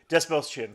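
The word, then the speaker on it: Dastmalchian: David, I can't pronounce his last name. Desmelchian. Desmelchian, thank you.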